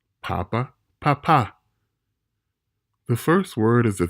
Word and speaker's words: papá: They must be observed in order to ensure proper pronunciation because they can literally change the meaning of words. Let's look at two examples. Bebe, bebé, papa, papá.